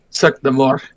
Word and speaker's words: Cirque du Mort: The T is silent. True. Cirque du Mort.